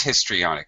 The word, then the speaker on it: histrionic: Oh, it is histrionic. Oh my God, I've been mispronouncing it and misspelling it for years.